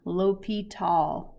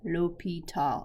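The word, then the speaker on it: L'Hôpital: going to love it there actually happens to be a french accent on the o and it is pronounced lopital lopital although i know some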